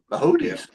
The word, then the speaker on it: Boötes: Is it Bahootes or Bohotes. Bahootes? Bahootes. Okay. Yep, you get that little there with the 2 dots on top.